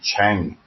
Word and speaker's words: Trang: Like whenever you see Trang in the Vietnamese word, it's actually Chang.